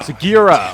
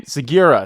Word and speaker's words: Sugiura: Sugiura! Oh my god. I'm never going to say his name. Sugiura.